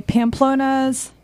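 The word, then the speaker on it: Pamplona's: Pamplonna's. Did I pronounce that correctly?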